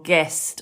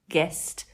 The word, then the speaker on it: guest: come to exceptions but things like the word guess or guest or Guild or guilt the G is followed by what you are you yeah so that would make you think it's a soft but it's not it's hard it's the same rule it's not i e or Y so it's guess guest Guild guilt there are exceptions we're